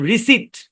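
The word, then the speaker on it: receipt: করেন যেমন দেখেন আচ্ছা এখানে পি টা সাইলেন্ট এই শব্দের উচ্চারণ রিসিট নট রিসিভ রিসিভ মানে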